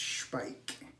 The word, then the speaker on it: Speick: She's like, it's Speick. You need to pronounce it right because she's German and it's a German product.